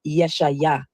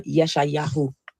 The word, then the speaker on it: Isaiah: The funny thing about the name Isaiah is many people don't know that the true Hebrew pronunciation of Isaiah is Yeshayah or Yeshayahu.